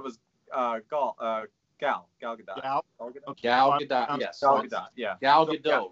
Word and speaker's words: Gal Gadot: i thought it was uh gaul uh gal gal gadot yeah gal gadot right it was a good one yeah so i was pronouncing like an the whole